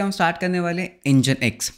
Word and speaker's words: Nginx: होता क्या है ओके हो तू प्रोनाउंस इंजनएक्स तो इंजनएक्स को बोला जाता है इंजन x okay so this इस दी प्रनंसीएशन ऑफ इंजनएक्स तो पहले डेफिनेशन की